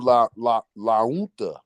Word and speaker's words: La Junta: Oh, and see, look, I went to a school in La Unta. That's how they told me you pronounce it. La Unta. La Junta.